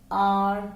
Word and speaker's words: our: Okay, our. ये our और घड़ी वाला जो our होता है वो प्रोनाउंस सेम होता है.